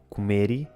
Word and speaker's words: comer: Neste caso, é comum a adição do som i quando uma palavra termina em L ou R e a última sílaba é tónica. Comer fica comeri e papel fica papeli.